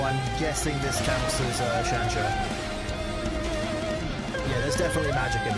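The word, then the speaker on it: xianxia: There's also Zanzia, or I can't remember how to pronounce it. X-A-N-X-I-A. X-I-A, yeah. If there's magic, okay. Is that Chansha?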